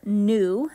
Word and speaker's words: nu: It's given the abbreviation Greek letter nu, that's spelled N-U.